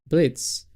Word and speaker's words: Blitzo: Blitz. Well, the O is silent, so that's why you say Blitz. But it's written like Blitzo.